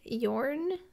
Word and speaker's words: Jorn: a good combo and Yorn I believe is how you say it he is so awesome